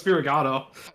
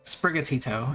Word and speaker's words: Sprigatito: I thought it was Spirigato. Sprigatito.